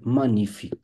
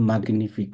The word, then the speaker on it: magnifique: হচ্ছে পার্কুর লে পেইজাজ মানিফিক। এটা কিন্তু ম্যাগনিফিক না, মানিফিক, মানিফিক। তো মানিফিক যখন বলবেন জিটা, এটা উচ্চারণ করতে পারবেন না, মানিফিক।